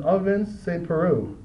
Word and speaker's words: Ovince Preux: And Gian Villante versus Ovince Preux.